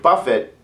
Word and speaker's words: buffet: remember that this word buffet and the word Buffet a line of food are different and you shouldn't pronounce them the same use them the same way this has a hard T Buffet the next word